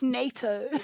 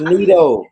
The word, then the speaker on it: Nito: I always feel Yeah, like I say his name too English, NATO. yeah, it's Nito.